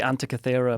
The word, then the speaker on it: Antikythera: Oh, the Antikythera mechanism.